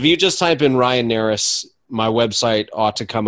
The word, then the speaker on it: Narus: to talk to you my name is Ryan Aris it's spelled and like Nancy a are us so that's n AR us if you literally just Google me Ryan Aris mobile home parks the first thing that comes